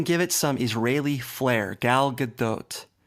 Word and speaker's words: Gal Gadot: they're wrong people like to say the tea is silent again that is wrong it's Gal Gadot you can even give it some Israeli flare Gal Gadot G G good doe it's not gal good dot like Dipping Dots it's G good doe you